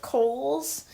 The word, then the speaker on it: Kohl's: Santa Claus is Santa Claus takes a job as a department store Santa for Kohl's. And it's spelled like the name Cole for those who don't know.